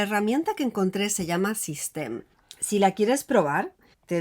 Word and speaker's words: Systeme: Entonces, System, y lo estoy pronunciando así porque es originaria de Francia, tiene la parte interna